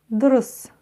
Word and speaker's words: дұрыс: Разбираем, как пишется буква «у» с хвостиком. Все очень просто. Сначала произносим букву «о» и возьмем эту букву «о» за 100%. А затем ее краткую версию, 10%. То есть мы только начали произносить букву «о» и тут же закончили.